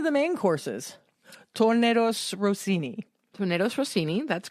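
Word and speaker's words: tournedos Rossini: Tornado Rossini.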